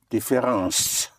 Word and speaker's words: différence: Both ence and ance in French are pronounced ans. Like difference would be différence.